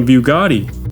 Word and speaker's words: Bugatti: Attaching a bugoo to one is like placing a bumper sticker on a Bugatti. It's pronounced Bugatti.